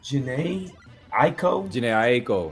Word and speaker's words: Jhené Aiko: I never can pronounce her name. It's Jhené Aiko.